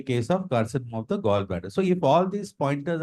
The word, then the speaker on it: gallbladder: CA gallbladder, sir. See a gallbladder. Gallbladder. Okay, although it is spelled as Gall, it is pronounced as Goll.